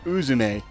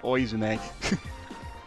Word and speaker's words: Uzume: keep pronouncing it wrong it's it's uzume not oizume ichiki and the others investigate